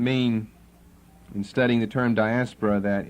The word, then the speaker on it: diaspora: okay that's four off the Greek accent falls on the last syllable we're going to give it as English pronunciation the English accent Falls here dot asparate the Greek it's diaspora and you raise your